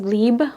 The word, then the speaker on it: Libre: original YSO leeb will forever be my favorite. It is pronounced leeb by the way.